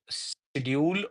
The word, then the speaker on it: schedule: schedule draw or schedule there are both uh pronunciations uh we know that schedule or schedule both are correct I must tell you